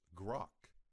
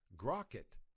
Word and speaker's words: grok: search your source code with open grukk it's pronounced grok which means to understand intuitively you may hear people say Crockett they are asking you to search your source